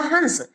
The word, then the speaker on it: हंस: हंस, इसका उच्चारण होगा हंस, जो कि एक पक्षी होता है।